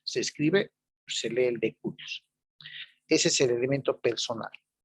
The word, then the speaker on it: de cujus: Cujus se escribe, se lee el de cujus.